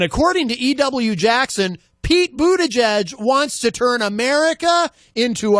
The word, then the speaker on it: Buttigieg: Jackson, Pete Buttigieg, I think is how you say his name, Pete Buttigieg.